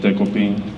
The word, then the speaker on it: デコピン: So his name is Dekoping. That's a Japanese name, and I figured it'll be hard for American people to pronounce it, so he has an American name and it's Decoy. So yeah, you can call him Decoy or Dekoping.